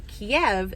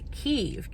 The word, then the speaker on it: Kyiv: it a different way, Kiev is actually the Russian spelling and pronunciation of the Ukrainian capital city of Kyiv, K-Y-I-V.